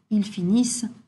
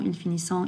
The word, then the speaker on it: finissent: Again, for the ils and elles form of the verbs, the ENT is pronounced E. Ils travaillent, ils finissent, ils attendent. Okay, so we're not hearing that ENT. Don't say ils travaillant, ils finissant, ils attendant, which is often what we hear.